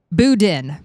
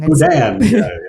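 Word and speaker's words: boudin: And and for folks that are It's spelled B O U D I N. So me, the little Northeaster called it buden, but no, that is wrong. Budan.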